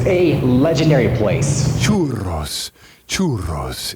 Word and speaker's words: churros: Churros. Churros. It's got two Rs. Roll your R, man. If you're going to do churros.